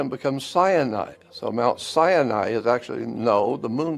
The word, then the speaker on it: Sinai: his people at Mount Sinai but Mount Sinai is actually sin AI and now it's interesting